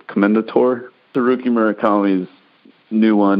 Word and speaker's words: Commendatore: way through I don't even know how to pronounce it killing commendatori Commendatore the rookie Murakami's new one and it's yeah